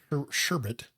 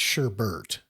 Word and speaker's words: sherbet: Sher- sherbet. Sherbet. It's pronounced sherbet. It's sherbert.